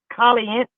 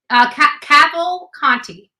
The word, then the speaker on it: Cavalcante: Cavalcante. Cavalcante. Okay, whatever you said. Like gavel, caval, and then like Conti, like Picante, Conti. Yeah.